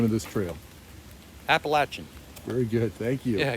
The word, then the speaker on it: Appalachian: do you say the name of this trail appalachian very good thank you yeah here's another nice